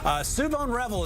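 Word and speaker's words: Shavon Revel: And Suvon Revel is how you pronounce the cornerback from ECU.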